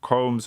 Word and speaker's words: Coombs: Combs rhymes with booms. I'm still ending up with the spell it that way. Yeah. Coombs, which is which I